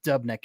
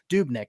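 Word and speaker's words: Dubnyk: maybe three especially with dubnek and goal dubnick rather got got to say it right dubin grube gruben dube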